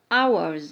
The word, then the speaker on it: hours: one desert oasis giant hours and H silent letter exclaimed sand amazed statue